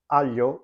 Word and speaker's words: aglio: double consonant sound, and the same goes with GL, as in the words aglio or maglia.